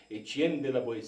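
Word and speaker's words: Étienne de La Boétie: boetie ti poder de a forma correta de pronunciar em francês Etienne de la boetie se com o discurso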